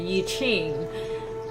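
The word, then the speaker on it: 易经: Okay, Yi Jing, which is the like the more English pronunciation would be Yi Qing, but the Chinese one would be Yi Jing, means they're like the book of change.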